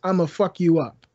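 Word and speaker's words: IMAPHUKYOUUP: One is I'm a fuck you up, and it's spelled I-M-A-P-H.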